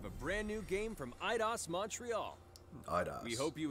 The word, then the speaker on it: Eidos: So let's kick off with the world premiere of a brand new game from IDOS Montreal. IDOS. We hope you enjoy the show. I always pronounce it Eidos. I'm a fool.